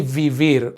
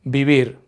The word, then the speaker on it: vivir: Notice that it's spelled with a V, but we don't say vivir. In Spanish, we pronounce V's like B's. So, vivir, to live.